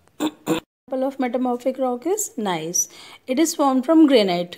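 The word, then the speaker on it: gneiss: Name इसका हम pronounce करते हैं नाइस.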